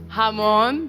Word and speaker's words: Ramon: Uh Hamon because there are spelled like H. So Hamon. Vemus amigus.